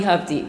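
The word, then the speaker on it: Hovde: and so we decided the way I can remember it rhymes with love D so it's love D hub D so this is G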